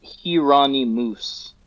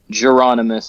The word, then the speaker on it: Jheronimus: Well, so the name is pronounced Hirani Moose. That's the literal pronunciation of it. But to have people say that is doesn't work. So Geronomus is kind of how I say it.